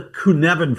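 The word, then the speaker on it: Cynefin: It's called Yeah, it's called the Kunvan framework. It does not It's a Welsh word or something. Anyways, all right. So, uh this Kunvan framework was developed by a guy named Dave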